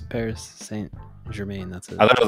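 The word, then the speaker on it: Paris Saint-Germain: thought it had like a like a different pronunciation it's Paris St Germain that's it I thought it was like par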